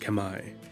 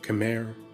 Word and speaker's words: Khmer: is now modern-day cambodia the kemmer correctly pronounced kamae or khmer or cameron english are an ancient people whose